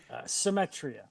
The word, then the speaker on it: Symetria: Vince, and I don't want to butcher the pronunciation. How do you say the band's name? Symetria.